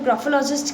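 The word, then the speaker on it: graphologist: तो ग्राफोलॉजिस्ट क्या होते हैं, ये प्रोनाउंसिएशन गलत है, यहाँ पे टी नहीं आएगा, ठीक है।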